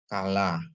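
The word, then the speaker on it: כלה: dages dia kaha ya Kaf ditambah F lamet ditambah kamat tambah he jadi bacanya kalah yang artinya mempelai perempuan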